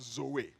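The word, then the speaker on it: ζωή: describe that life is a greek word pronounced zoe yeah jesus christ came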